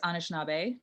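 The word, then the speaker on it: Anishinaabe: i don't want to pronounce it wrong but anishinabe and your ashkenazi jewish heritage and flint influenced you in filmmaking and the projects you pursue well um uh and it is anishnabe that's good it's ojibwe um up here too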